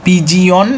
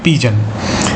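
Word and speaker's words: pigeon: পিজন ঠিক আছে আর বানান মনে রাখার জন্য তোমরা পিজিয়ন এরকম ভাবে পড়তে পারো কিন্তু উচ্চারণ কিন্তু হবে পিজন তাহলে এগুলি আমরা জানলাম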